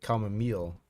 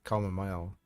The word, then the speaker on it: chamomile: Common meal. We always say mile. Common mile. Because that's how it's written.